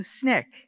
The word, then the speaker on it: SNCC: But how did I get into SNCC?